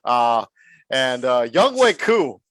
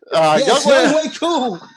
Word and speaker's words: Younghoe Koo: Younghoe Koo is how it's pronounced. Younghoe Koo. Younghoe Koo.